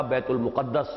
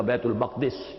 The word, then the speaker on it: بیت المقدس: جن کا مرکز بنا بیت المقدس یا بیت المقدس، یہ دونوں اس کے تلفظ ہیں۔ دوسری شاخ بنی اسماعیل